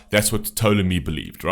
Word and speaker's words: Ptolemy: call yourself ptolemy right i think it's actually a silent p it's ptolemy uh ptolemy was um he